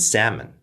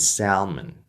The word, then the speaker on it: salmon: without the L and most Americans will say it without the L's So Cal bam palm and salmon but as I suggested there will be certain regions where they might say calm Bal palm and Salman as an English learner